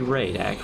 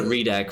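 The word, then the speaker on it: Reidak: It's spelled R-E-I-D-A-K. Right. English changes that actually, so I wouldn't know. It should be Ray though. It should be Raidak, right?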